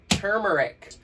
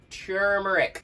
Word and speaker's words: turmeric: moving on now to a tier turmeric it's pronounced turmeric t r m e r i c turmeric it stains everything everywhere and I cannot stop